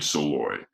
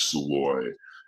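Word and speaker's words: Szalay: name is david uh it's hard to pronounce his hungarian last name but david soleil i think or salloy david soloy and yeah yeah i think it's i've heard it pronounced once before and i think it was sloy and he is a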